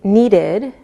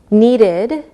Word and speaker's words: needed: When the last sound of a word is a D or a T sound, we pronounce the ED like id. Listen again. Invited, invited, so it sounds like ID. Needed, needed.